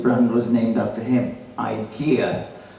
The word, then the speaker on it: IKEA: also there um uh of course there Ikea now it's now pronounced Ika the idea of getting installing Ikea furniture was to get rid of iy furniture and now you're installing ikia Furniture so it's a point